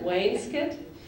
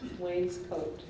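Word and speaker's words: wainscot: word because I've heard people say it all these ways way Wayne's Scot Wayne's coat can you repeat the word all three times yes way skit wayes Scot Way's coat language of origin it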